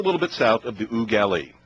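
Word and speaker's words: Eau Gallie: If you've been around Florida long enough, it is Ooh Galley, not Oh, galley or ooh galley. Yeah, I always have a tough time with that. Oh, the French pronunciation is Ugali. Ooh galley.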